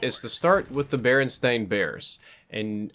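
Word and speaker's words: Berenstain: to start with the baren stain bears and I'm pronouncing it strange on purpose because apparently the book series that we all know and love is known as the baron stain Bears s a i n but I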